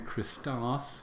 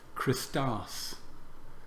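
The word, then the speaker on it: Χριστός: Our second word, Christos. Christou, ha. Christos. Christou, ha. Christos, Christou, ha. So this Christos is broken into syllables between the iota and the sigma.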